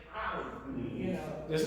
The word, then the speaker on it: Ali: right, okay, It should be the, Ali is with the iron. And if you notice, like, if you ever hear somebody that actually speaks Ali, right. they pronounce that iron, Ali, you know.